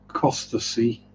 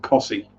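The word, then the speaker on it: Costessey: wrong on english tv i've heard presenters pronounce tackle nesting and acosta see right now it's tackleston and cossey yeah so i think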